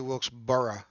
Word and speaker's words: Wilkesboro: Let me say that right. Well, maybe it's It's actually Wilkesboro. So, yeah. There you go. Don't say it like wheelbarrow.